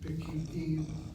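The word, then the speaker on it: פקידים: The kamatz reduced to a shvana, and the accent will now be on the last syllable, and the chirik following the kuf is now part of an open syllable. Pekidim is what you have.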